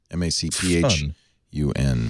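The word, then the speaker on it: Macphun: M A C P H U N.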